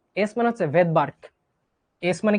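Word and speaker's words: Svedberg: একটা সুনামির মধ্যে যেমন পি উজ্জ থাকে, নিউমোনিয়াতে যেমন পি উজ্জ থাকে বা সাইলেন্ট থাকে, এরকম ভেদবার্গে এসটা উজ্জ থাকবে।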